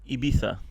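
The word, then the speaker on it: Ibiza: Ibisa.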